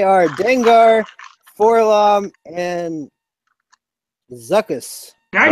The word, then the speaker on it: Dengar: It rhymes with a Pokemon.